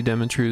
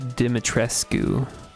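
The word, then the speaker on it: Dimitrescu: it's resident Evil's back oh it's lady demetrescu I butchered her name so badly and everyone knew what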